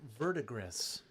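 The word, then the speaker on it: verdigris: And then you can play with vertigree and stuff like that, too. It's technically Jason pronounced Vertigris.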